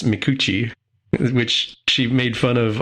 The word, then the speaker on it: Micucci: her name m Kate Min thank you Kate makuchi also voices Velma Dinkley we talked about Velma